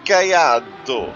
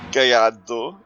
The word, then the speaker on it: Gallardo: lamborghini guyado sl now i've even watched a pronunciation video to try and pronounce guyando because apparently it's not italian gallardo it's a spanish word because the lamborghini cars are named after spanish bulls believe it or not